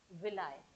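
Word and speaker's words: villi: जिनको हम बोलते हैं विलाय। इनको हम क्या बोलेंगे? विलाय, विली या विलाय आप बोल सकते हैं, विलाय। ठीक है, या विली। ठीक है, आप इंग्लिश में इसको प्रोनाउंसिएशन विलाय बोल देते हैं, विली।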